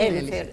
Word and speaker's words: Elyfer: É Elifer que pronuncia mesmo? Sim, Elifer, sim.